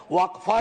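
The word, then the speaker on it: वक़्फ़: और अलग अलग लोग इसका प्रोनाउंसिएशन अलग करते हैं, कोई वक्फ बोलता है, कोई वकफ बोलता है।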